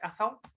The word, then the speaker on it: Athol: testamion's fifth uh Athol Athol is that correct Athol that's all I think we will pronounce the T yeah okay yeah that's